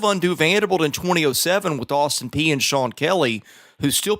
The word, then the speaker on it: Austin Peay: Yeah, I mean, that Austin Peay, you said it right.